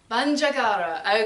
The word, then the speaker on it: Bandiagara: Bandiagara, and I have no idea if I'm pronouncing that correctly. Can I be corrected? Is Catherine here tonight? Yeah. Bandiagara.